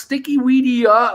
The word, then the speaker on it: Sticky Weedia: Shout out, please follow Sticky Weedia, pronounced Sticky Weedia, like Wikipedia, best stoner meme page on Instagram.